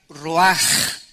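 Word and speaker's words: רוח: Esta palabra vientos es la palabra hebrea roach, que se pronuncia roaj. La CH en el hebreo se pronuncia como J.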